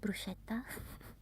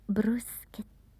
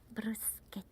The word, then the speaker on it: bruschetta: the interviewers asked them the correct pronunciation of certain Italian food like bruseta that people call bruschetta but it's bruseta gh in Italian is like a k bruseta and And probably the hardest is the sound.